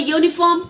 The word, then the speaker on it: uniform: Then, when we talk about the uniform, when we talk about a useful and European, so though it is starting with E when we write or U, but it is pronouncing like Y.